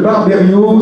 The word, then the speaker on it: Barberio: Florence Deneuve, Michel Barberio, c'est bien ainsi qu'on prononce votre patronyme, vos patronymes respectifs.